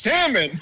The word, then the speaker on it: salmon: say salmon it's pronounced salmon I you don't pronounce the L no the L's I